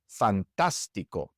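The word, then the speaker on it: fantástico: Fantastico. In this word, we also stress the third to last syllable, so it must have an accent mark.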